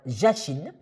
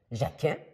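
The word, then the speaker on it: Jakin: était à droite droite jchine jacin ça dépend de la façon que vous prononcez et le N de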